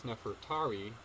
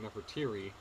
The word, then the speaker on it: Nefertari: Or there's Nefertari, or Nefertiri, the wife of Ramesses the Great, one of the most famous pharaohs of ancient Egypt. So Nefertiri, or Nefertari, depending on how you say it.